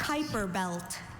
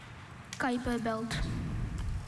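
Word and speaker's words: Kuiper belt: Kyper belt.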